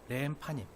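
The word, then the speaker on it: לחם פנים: 그래서 렘파님, 얼굴의 빵이에요.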